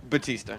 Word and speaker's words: Batista: Some people know Dave Bautista as Batista. Right. Bautista. How do you Yes. pronounce it? Batista.